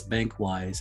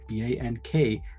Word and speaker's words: BankWyse: For the listeners on this PANGEA Talks episode, BankWyse provides, and that's BankWyse, I'll spell it because it's spelled in a very unique way, BankWyse.